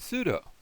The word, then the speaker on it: pseudo: It looks like it would be pseudo, but we pronounce that pseudo. The P becomes silent, and sometimes we do that a little bit in the Greek, but if we do, we're probably doing it improperly.